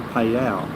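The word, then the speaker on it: Phayao: two serpents are on the lake out near payal which I finally got the pronunciation correct P which is uh between here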